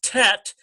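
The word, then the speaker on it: טית: So under this T with the letter, when it transliterates tet, why are they telling you this? Because that is going to compete with tav. See? And they both equal T sound, but you've got to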